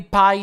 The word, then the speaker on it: Pi: Sweet as a pie. Happy Pie Day. Is it pronounced pie? Because here in Brazil it's P.